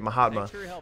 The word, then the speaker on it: Mahatma: it did it sound like he missed set Mahatma that's how you say it Mahatma yeah well hey it's not like he was